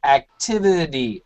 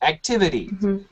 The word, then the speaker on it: activity: great job in america this is a strong t but this usually changes to a d sound so like uh activity activity okay types of activity very